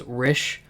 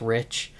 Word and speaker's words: Rish: The one song that stood out to me was Rish, which is just rich, but he pronounces it as Rish in the song.